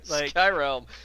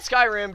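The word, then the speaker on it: Skyrealm: called Heroes of Skyrm Skyrm definitely not Skyrim definitely not Skylanders definitely none of those things it's it's spelled in a pretty uh like pretty different way it's Sky r e a l m but I mean at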